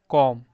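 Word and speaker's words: comb: जैसे आप देख सकते हो कि जब भी एम के बाद बी आए तो उसको साइलेंट पढ़ते हैं। ठीक है? तो पहला इसमें है सी ओ एम बी। तो इसको कॉम नहीं पढ़ेंगे। क्या पढ़ेंगे? कॉम। क्या पढ़ेंगे? कॉम। इस तरह से कॉम पढ़ेंगे। बी को नहीं पढ़ेंगे।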